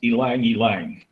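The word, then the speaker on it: ylang-ylang: oh by the way that oil that we don't know how to pronounce is apparently pronounced Alang Alang okay yeah you know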